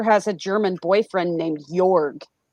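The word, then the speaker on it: Jörg: a German boyfriend named jorg it's great six foot J it's like jorg j-o-r-g but it's pronounced morgue with a y EP yeah yes and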